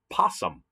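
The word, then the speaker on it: opossum: north america where we live and it's the possum and the o is silent of the possum so possum are marsupials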